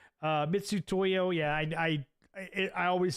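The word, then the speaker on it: Mitutoyo: like 80 bucks Felix F pronounced as mitsu Toyo like Mitsubishi uh mitsu Toyo yeah I I I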